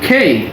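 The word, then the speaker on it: K: তারপর আছে কে, আমরা এটা বলি কে, আসলে এটা হবে খেই, মানে ক থেকে খ এবং শেষে ই যুক্ত হয়ে খেই।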